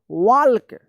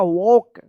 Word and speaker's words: walk: क्या है, इसका सही उच्चारण होगा वॉक, वॉक। यहाँ पे जो है ना एल साइलेंट रहता है, एल का कोई उच्चारण नहीं होता है।